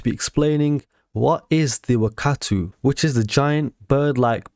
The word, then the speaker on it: Wakaatu: So I'm going to pronounce it as Wakaatu, simply because that's how Lahni and her people would have pronounced it.